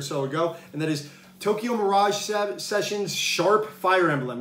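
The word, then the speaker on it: Tokyo Mirage Sessions ♯FE: ago and that is tokyo mirage sessions sharp fire emblem yeah that's how you say it's not tokyo mirage sessions fe that's sharp uh fire emblem uh special edition regardless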